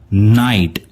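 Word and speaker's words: night: इसका प्रोनाउंसिएशन होगा नाइट और इसका साउंड बनेगा न आइट, न आइट।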